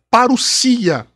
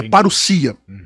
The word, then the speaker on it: parousia: Então a pronúncia correta é parousia. O acento está no iota ali, é parousia.